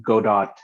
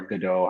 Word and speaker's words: Godot: don't allow a professional game that frameworks uh godot or godot however you want to pronounce it i like to dough godot is